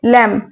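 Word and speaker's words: lamb: और फिर यहां पे लैम लैम बोलना एल ए एम बी लैम होता है बी साइलेंट है इसमें जैसे कि हम थम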